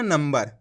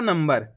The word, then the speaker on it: नंबर: अब देखो इसको कैसे पढ़ा अपन ने, नंबर। कैसे पढ़ा, नंबर। ना के ऊपर अनुस्वार की मात्रा लगी हुई, उसके बाद वाला अक्षर कौन सा है,